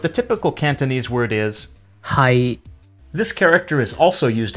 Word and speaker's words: 係: When read in Cantonese, it's pronounced 是 but the typical Cantonese word is 係 This character is also used in Mandarin and